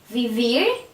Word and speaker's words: vivir: For example, the verb cantar, the stress is in ar. The verb comer, stress er. Vivir, stress ir.